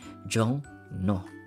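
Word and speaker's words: 종로: So jong plus ru. Yung first syllable natin nag-end siya, yung patchin niya is iyong, and then followed by the syllable na nag-uumpisa sa real, which is yung ro. So ano magiging basa dyan? Magiging jong no, jong no, jong no.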